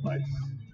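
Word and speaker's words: Ysse: And, two names, Vice, Y-S-S-E, it's pronounced Vice.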